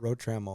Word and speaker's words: Rotramel: Rotramel.